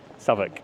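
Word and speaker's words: Southwark: Savoc. Yeah, South. That's how it's pronounced. Savoc.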